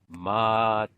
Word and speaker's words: Matiz: On the back, it gives you one of those broken down words with all the hyphens and stuff to know how to pronounce it. It says Matithan.